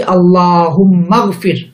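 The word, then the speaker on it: اللهم اغفر: যুক্ত হয়েছে এটি হামজাতুল অর্থাৎ পূর্বে অন্য কোন শব্দ আসলে মিলিয়ে পড়ার সময় এই হামজাটি আর উচ্চারিত হয় না মূলতফির ছিল কিন্তু যখন আমি শুরুতে আল্লাহুম্মা পড়ছি তখন উচ্চারণ করছি আল্লাহুম্মাফির আল্লাহুম্মা বলছি না আল্লাহুম্মা হে আল্লাহ তুমি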